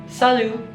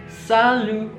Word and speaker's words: salut: Yang kedua adalah salut. Salut. T-nya di sini tidak dibaca ya. Jadi bacanya cuma salut.